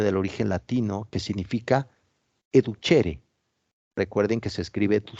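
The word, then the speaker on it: educere: origen latino que significa educhere Recuerden que se escribe tu ser así tal cual pero se pronuncia con h intermedia educhere educhere significa alimento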